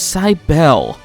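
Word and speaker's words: Cybele: and now we confuse side Bell that's how they pronounce it I'm going to pronounce it cybell because that makes more sense to me cyber was actually going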